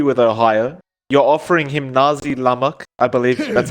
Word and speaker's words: nasi lemak: Nazi. 5 Nazi. seconds remaining. Nazi What did I say? Lemak, yes, Mike. Nazi. What did It's an S, Mike. It's not a Z.